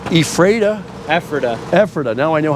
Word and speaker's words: Ephrata: Ephrata.